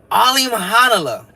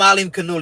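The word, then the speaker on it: Alimkhanuly: Janibek Alim Hanala. I call him Alim Kanuli because that's how you spell it out. That's how you write it out, right? So Alim Kanuli, but they say Alim Hanala.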